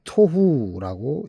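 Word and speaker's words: תֹהוּ: 혼돈은 토후라고 읽습니다.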